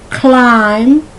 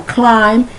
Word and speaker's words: climb: it's plumber so c-l-i-m-b the b is silent so it rhymes with crime climb crime okay cloak